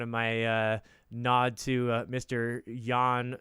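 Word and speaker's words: Jan Hammer: Yan spelt with a J Y on hammer J and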